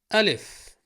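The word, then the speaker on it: ألف: Alef. The stick, the light pole, call it what you want. Its name is a bit close to alpha.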